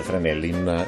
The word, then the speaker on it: Fresnel: una lampada 3 nella se scrive fresnel ma si legge fra mellin in tributo all'ingegnere che inventò